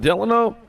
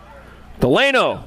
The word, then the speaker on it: Delano: Got Kettle, Farwell, Gutierrez, Fletcher, Schumann, Delano. Oh, wait a minute. Let me pronounce that correctly. Delano, that's it.